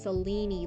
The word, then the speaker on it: Selene: How do you rhyme Oh, with the is pronouncing the E at the end, so it's Selene, like beanie.